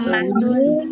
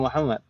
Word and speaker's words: Mahmud: Wa mahmudun talibun kaslan. ما معنى هذه الجملة؟ Dan Mahmud adalah seorang pelajar yang malas. Mahmud. Ini kalau tulisannya seperti itu bacanya Mahmud gitu ya, Bu ya. Bukan Muhammad. Ini Mahmud.